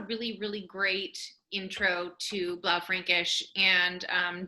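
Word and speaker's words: Blaufränkisch: bla frankish and um just in terms of pronunciation i'd like to say it is and allison is saying it 100 correctly it is but i do hear a lot of people say blah frankish it is not blou frankish even though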